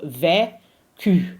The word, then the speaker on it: vécu: We actually pronounce it as a Q. So vécu, and we open the E.